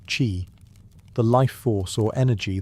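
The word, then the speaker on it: qi: At the heart of acupuncture is the concept of ki, pronouncedq chi, the life force or energy that flows through the body along invisible channels called meridians.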